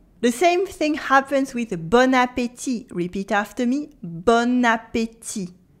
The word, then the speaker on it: bon appétit: We have the bon, that means good, bon with a nasal on, bon, and we have appétit with the e sound in the middle and a silent t at the end. But when we put them together, it makes bon appétit. Bon appétit. It sounds as if the bon had turned into bonne, the feminine form, and it makes bon appétit.